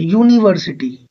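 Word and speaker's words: university: यूनिवर्सिटी you knee but यू का sound है। ये साउंड अगेन वोवेल में नहीं होता।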